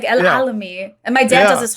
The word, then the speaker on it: Alami: Alami? Remember the Alami.